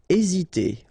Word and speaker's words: hésiter: Hésiter. Okay, remember that H doesn't exist, so we don't pronounce it, and the first thing you will pronounce is this vowel here, E accent aigu, E. Hésiter. Hésiter. Sonner.